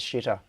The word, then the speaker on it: Xitter: No, I usually refer to it as shitter, as in Xitter, but with the Chinese pronunciation of the X.